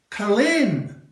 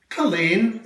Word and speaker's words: Culzean: You say, Culzean. That's right. Culzean, it's a castle.